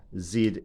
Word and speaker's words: Z: we don't say 350z we tend to pronounce the zed as zed so we call them the zed cars and they are very